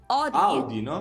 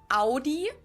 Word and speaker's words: Audi: I'm too for that most Americans that I know pronounce it like I just said it AI in German we say Audi Ai and there's actually a